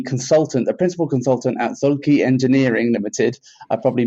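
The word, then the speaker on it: Zühlke: your firm uh it's it's actually a Swiss name it should be zul oh there we go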